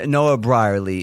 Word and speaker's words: Noah Brierley: convo we're on the line with noah and noah brierley is that that's how you probably yeah that's how you pronounce it well done that's good my my